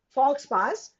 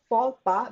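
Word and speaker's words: faux pas: this is pronounced as fora this is not false pass this is pronounced as forpa which means a social error a blunder somebody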